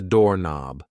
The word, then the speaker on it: doorknob: This thing here is a doorknob. A doorknob. Yes, the K in knob is silent.